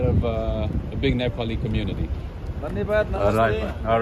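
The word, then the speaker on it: धन्यवाद: Nanivad? Dhanyavad, yeah. You know where I saw a big Nepali Namaste. community is in Portugal. Portugal, there's a lot of a big Nepali community. Dhanyavad.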